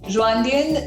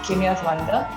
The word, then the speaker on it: Kinyarwanda: Rwandan is not the right pronunciation, Janvi, but then my mother tongue is actually pronounced as Kinya Rwanda.